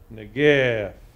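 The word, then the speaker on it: נגף: In fact, the cantoral mark above the nun mm-hmm. tells us that the first syllable is emphasized.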